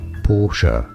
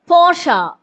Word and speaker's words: Porsche: It is said as Porsche. കണ്ടോ? Porsche. It is Porsche. എന്റെ പൊന്നു കൊച്ചെ, നിനക്ക് വയ്യേ? It is Porsche, കേട്ടോ? എനിക്ക് അറിയാൻ പാടാത്തോണ്ട് ചോദിക്കുക. Porsche.